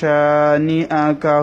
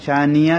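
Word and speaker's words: شانئ: ফাসল্লি লিরাব্বিকা ওয়ানহার ইন্না শানিআকা হুয়াল আবতার। ইন গুন্না হবে ওয়াজিব গুন্না, শা এক আলিফ টান হবে, নিআ হামজা একটু ধাক্কা হবে, তবে ইয়া যেন উচ্চারণ না হয়, শানিয়া যেন না হয়, শানিআ এভাবে।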